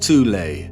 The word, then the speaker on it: Thule: society within germany called the thol society sometimes alternatively pronounced tule that had sub-factions within